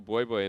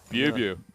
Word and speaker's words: Bui: Black Cleaver picked up there for Bui Bui, and I'm still saying it wrong, aren't I, Raz? Why do I do that? I said it once. I'm just going to let you go. Bew, all right?